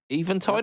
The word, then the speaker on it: Eventide: Eventide, I said it. Woo! I said it right.